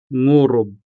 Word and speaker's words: ngurob: in our next example, ngurob. ngurob, meaning to roar. So again, the consonant nga could be followed by the vowel u, making the sound ngu, ngu, ngu, ngurob, ngurob.